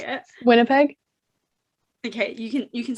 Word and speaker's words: Winnipeg: There was well there was Winnipeg. Is that no? How do you say it? Winnipeg.